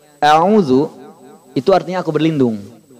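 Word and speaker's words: أعوذ: dalam kaleng aozoom pertama Jangan sampai kita memanjangkan Hamzah sehingga membacanya Audzubillah Audzubillah Nis kesalahan-kesalahannya bukan sekedar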